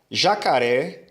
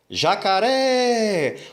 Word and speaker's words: jacaré: seguinte aí nesse caso jacaré é uma palavra oxítona porque a última sílaba é a mais forte jacaré vamos lembrar que nós